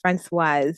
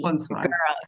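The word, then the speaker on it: Françoise: It's pronounced Francoise. It ends with an E. Francoise.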